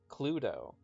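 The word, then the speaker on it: Cluedo: supposed to be pronounced cludo. And it's a play on the Latin word ludo, meaning game, and the English word clue, meaning clue.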